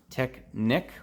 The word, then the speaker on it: Technic: moving on we got some tech Nick or Technic depending on how you want to pronounce it that is actually